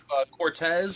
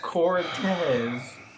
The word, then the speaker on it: Cortez: Cortez or something. Yeah, because you spell Cortez with a Q. You do. Yeah, the Q is Steve's last name. Exactly. Cortex. Cortex. It's Cortez, C-O-R. But I pronounced it Cortez, not Cortez.